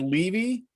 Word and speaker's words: Levy: hey dan hey i i like to use the word leavy in my pronunciation but however the fact that you're pronouncing my name at all is a good thing levy that's good i've got